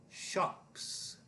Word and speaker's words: shops: Shops. That is the snake sound.